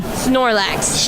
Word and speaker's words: Snorlax: you how do you say the name again Snorlax Snorlax you're not Snorlax Handler you just saw